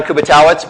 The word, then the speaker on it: Kubiatowicz: we're doing this um my name is kubatawitz but as you already heard most people call me kubi because they can't pronounce my last name which is fine good